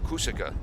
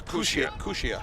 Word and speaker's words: Kusia: Is it Kusia or Kusika? It's Kusia.